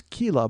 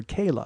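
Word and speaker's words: Keila: uh her name was Kila but I called her Kayla because it was k-e-i-l-a so I assumed it was a long e but I should know it was like Sheila Kayla but I said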